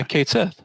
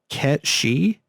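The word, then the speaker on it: Cait Sith: that help yeah yeah kate says yeah so apparently that is pronounced cat she get she yeah it's the Gaelic word for fairy cat sure so we've been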